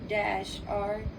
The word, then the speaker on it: Gauri: Gauri, and the pronunciation, but how you spell Gauri is Gauri, and how you pronounce it is Gowree.